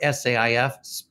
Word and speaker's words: SAIF: and interchange format or saif pronounced safe we thought we'd be